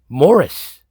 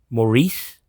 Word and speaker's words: Maurice: and she refers to picard's father as morris morris that's how you pronounce this name it's not maurice and i don't say that there are like